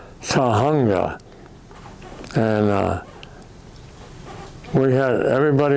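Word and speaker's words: Tujunga: To a a town called Tahunga. And uh we had everybody in the car had trouble pronouncing it. Tahunga.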